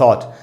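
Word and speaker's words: thought: Think का past tense, थॉट, आई थॉट सो, मैंने ऐसा सोचा। तो यहाँ O के बाद, U के बाद GH है तो एक वावल है U, उसके बाद GH है तो वो साइलेंट है।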